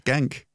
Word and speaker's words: Genk: I thought you'd have had a more full pronunciation than that. I think I can't really do anything with Genk. It's Genk.